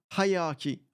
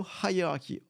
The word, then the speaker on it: hierarchy: So pronunciation tip, hierarchy is clear said, starting with a hard H for high, so as in high. So hierarchy. Okay, so hierarchy.